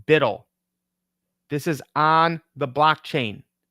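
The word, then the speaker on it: BUIDL: their CEO this is Black Rock USD it's pronounced bidle this is on the blockchain now you can't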